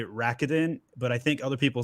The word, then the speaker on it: Rakuten: way i actually don't know how this is pronounced i've i like i used to say rakitin but i think other people say rokuten i'm not really sure uh ichiba sellers i